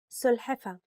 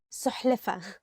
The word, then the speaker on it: سلحفة: سلحفة turtle سلحفة turtle. And sometimes people mix it with سحلفة.